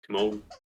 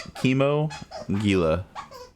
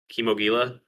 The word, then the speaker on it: Kimogila: It's Chemo Gila. Kimogila. Yep. That's. I feel like it should just be called Kamogula. Like it just seems like it sounds better. It's either Kimogila or Kimogala, one of the two.